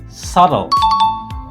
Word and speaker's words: subtle: The B is totally silent. We say subtle. Subtle.